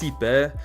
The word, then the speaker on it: Xipe: is Xipe, the harmony, which is pronounced Sipe. I always pronounced it Sipe, but in the game Welt either Welt or Himekon, I'm not sure, pronounced it Xipe, so I guess this is the correct pronunciation.